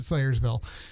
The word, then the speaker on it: Salyersville: Yeah, and they're in Slayersville, which is actually Salyersville, but they pronounce it Slayersville.